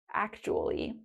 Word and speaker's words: actually: Let's start with actually. Slide number 1. Let's start with the pronunciation. Actually. 4 syllables. Actually. Actually. Actually. And sometimes when we're speaking quickly, that third syllable, we just leave it out.